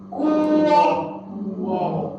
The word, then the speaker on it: 国: Because you all we will pronounce as a 窝 Plus the G is a 国 Okay.